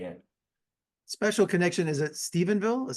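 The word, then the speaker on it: Stephenville: and honest way in special connection is it Stevenville is that how you say it yeah Stevenville Stevenville how important was it to shoot the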